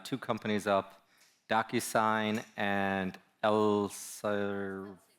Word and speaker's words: Elsevier: Docysine and Elir. It's three syllables.